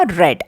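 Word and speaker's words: read: भी आरई एडी लेकिन प्रेजेंट में इसको रीड पढ़ेंगे और पास्ट में इसको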